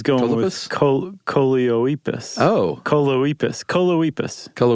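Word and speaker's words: Choloepus: with choliopus oh coloipas coloipus rhymes with Bocephus okay that's a good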